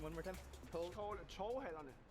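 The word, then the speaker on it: Torvehallerne: Can you help me to pronounce the name one more time? Torvhallerne. Torvhallerne.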